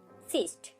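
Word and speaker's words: cyst: সিস্ট দেখুন এখানেও আমরা সি এবং ওয়াই কে পাচ্ছি, এখানে কিন্তু তার উচ্চারণটা হচ্ছে ই এর মতো, এখানে ভাওয়েলটা হচ্ছে ই এর মতো, কিন্তু সি এবং ওয়াই যখন যুক্ত হয়েছে দন্ত স এর উচ্চারণ হচ্ছে।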